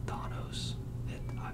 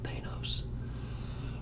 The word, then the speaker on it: Thanos: thanks to the movies we have thanos or donos it's been pronounced both ways but i'm pretty sure it's it's thanos um the name thanos